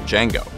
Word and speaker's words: Django: to Nero's iteration of Django having his hands maimed over the course of the 1966 film d j a n g o the D is silent I know with Kill